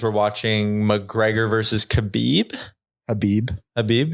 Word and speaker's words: Khabib: Habib. Yeah, K is silence.